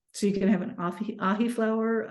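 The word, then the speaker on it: Ahiflower: So you can have an ahi flower. How do you spell that? I've never heard of that. It's like ahi tuna, AHI.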